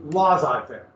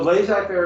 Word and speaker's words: laissez-faire: Now, it's been Americanized to laissez-faire. And you will see it pronounced both. I pronounce it both ways and not even realize I'm doing it. So laissez-faire is closer to the French, but laissez-faire, let's read here all the time.